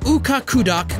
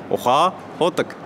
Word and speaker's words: Ukhaa Khudag: More specific, near the Ukhaa Khudag coal mine. Sorry, I just slaughtered that pronunciation. Maybe best to have a native pronounce it. Ukhaa Khudag.